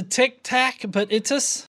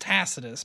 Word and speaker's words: Tacitus: If you've done any kind of research or watch any kind of material on this, you would know that it's pronounced Tacitus.